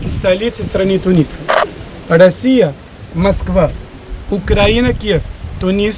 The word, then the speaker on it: Тунис: Название стране по-русски Тунис. Тунис ударение на «и». По-арабски Тунис, ударение на «у».